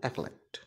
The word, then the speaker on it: acolyte: Pronunciation में इसको का को बहुत ही हल्का सा प्रोनाउंस करते हैं, इसलिए इसका प्रोनाउंसिएशन हो जाता है एकोलाइट।